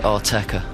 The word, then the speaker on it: Autechre: And how do I pronounce the group name? We call it Autechre.